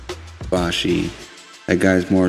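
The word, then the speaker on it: Ibushi: um he faced the Kota ibosi yeah that's how it's pronounced I Bashi that guy is more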